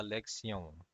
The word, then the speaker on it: lección: So the lesson is going to be la lección. Okay, so the O, I'm pronouncing it a little bit more in a prolonged fashion. So that's how you have to do it as well.